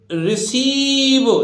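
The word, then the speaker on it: receive: देखते हैं भाई देखिए अब रिसीव देखिए री तो ये हो गया अब सा है सी है तो ई आई लगाएंगे तो देखिए ऋषि और बीई वाह लास्ट की ई को बोलते ही नहीं है ये तो कट जाएगी तो रिसीव प्राप्त करने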